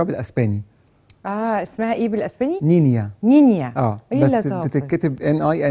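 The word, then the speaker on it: Niña: ليه نينا بقى هو الكلمه اسبانيه المفروض النطق بتاعها نينيا بس احنا بالانجلش بتتكتب نينا هو عباره عن بنت صغيره بالاسباني اه اسمها ايه بالاسباني نينيا نينيا بس بتتكتب ان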